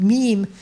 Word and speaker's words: meme: Evolutionary biologist Richard Dawkins coined meme in his 1976 book, The Selfish Meme, to rhyme with genes, accentuating what he sees as the biological mechanism vital in the reproduction of cultural codes.